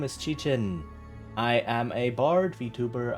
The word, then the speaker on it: Qichin: My name is pronounced Chichin.